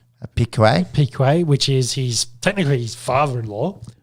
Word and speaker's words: Piquet: Piquet, which is technically his father-in-law.